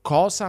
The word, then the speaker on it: cosa: Guarda che la pronuncia neutra tradizionale fa delle distinzioni. S in alcune parole e S in altre. Inglese ma francese, cosa ma rosa.